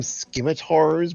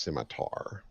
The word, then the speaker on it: scimitar: we'll call them earlier I call them skimmators but they're actually pronounced scimitar andrenett is cruel sometimes